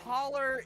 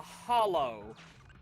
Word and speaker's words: hollow: the day last challenge holler is the southern way of pronouncing uh Hollow oh really yeah it